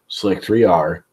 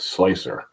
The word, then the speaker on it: Slic3r: Friday you do know it is not pronounced slic3r but slicer the man behind the